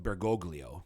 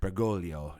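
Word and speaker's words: Bergoglio: So it looks like Bgoglio, right? But an Italian gl. So Bgolio is how you uh, pronounce the holy father's um, last name.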